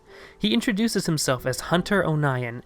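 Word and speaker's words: O'Nion: introduces himself as hunter Oh nyan emphasizing that his last name is pronounced own ayan as he was called the onion in school learning that hunter is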